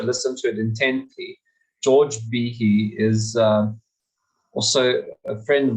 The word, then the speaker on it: Behe: And for years, we've been pronouncing his surname wrong in South Africa. We've been going, it's George Behe, but it's Behe.